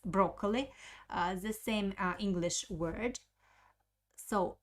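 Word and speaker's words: брокколи: of cabbage ketai skaya pusta next word is broccoli broccoli broccoli it's broccoli the same english word so broccoli broccoli the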